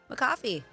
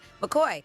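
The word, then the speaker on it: McCaughey: to Iowa seamstress Bobby McCaffy or McCoy. Sorry, that was weird weird way to pronounce it. McCoy.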